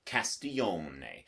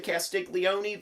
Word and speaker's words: Castiglione: to thank mg for giving me that Italian pronunciation a few years ago Castillo may now you can say if you're him it's a written test if it makes you feel better to say Castiglioni then by all means Castiglioni but don't tell